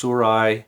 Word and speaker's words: Sirui: do you pronounce it surah suru s-i-r-u-i there's no proper way to say it it's surai it has the twists